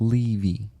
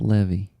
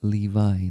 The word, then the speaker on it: Levy: So it is pronounced Levy, right? Not Levy. Levi, not Levi, Levi, like Levi's. Yeah, like the jeans.